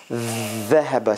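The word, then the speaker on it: ذهب: Dhahaba, see, the tongue is all the way out and under the teeth.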